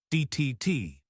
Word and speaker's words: debt: So it's receipt psychology that P at the beginning gone it's cyolo guy and finally debt silent b making it simply dtt key these silent letters exist